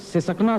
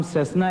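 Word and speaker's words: Cessna: एजाज, ये बताइए कि आप सिसकना सुना है, उड़ाते हैं आप? इसका असल प्रोनाउंसिएशन सेस्ना है। मैं जाहिल नहीं हूं, मुझे मालूम है कि उसका असल नाम सेस्ना है, लेकिन जब वो चलता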